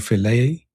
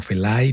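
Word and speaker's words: Fellay: Eh, monseñor Feley o Felay, no creo que se pronuncia Feley. Yo siempre le he dicho Felay.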